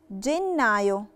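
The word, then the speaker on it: gennaio: سكولتا يعني اقرا واسمع جنايو انا نطقت جنه علشان لا ليترا دي دي وراها الفوكاله ايه فبقيت بنطقها دي دولتي جن نايو يعني شهر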